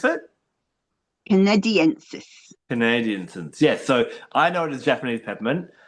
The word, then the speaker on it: canadensis: Is how you would pronounce it? Canadiensis.